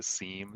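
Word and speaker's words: SIEM: love the quadrants absolutely did you see how Eric the genius called it a Sim s-i-e-m as opposed to a seem cim that's what I can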